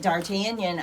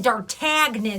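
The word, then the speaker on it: D'Artagnan: Couldn't have told you, but Dartanion I I knew. And she doesn't spell it like they do. No, she doesn't use the thing. It looks like Dartagen. There's a G in there and that's what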